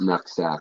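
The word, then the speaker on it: Nooksack: neighbor was about like that uh it's actually pronounced nuk sack like indigenously and the high school out there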